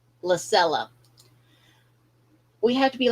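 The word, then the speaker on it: Lysella: And sometimes we have to do like the female character in this episode, Lacera. Let me see. Did I say her name right? Lacella.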